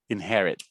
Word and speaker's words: inherit: Most Americans will hold it though. Inherit. Just place your tongue where the T should be, but you don't let the air out. See, I told you, I am a pronunciation buff.